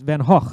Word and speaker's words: Van Gogh: there's a painting by van gogh or pronounced van gaach according to the stories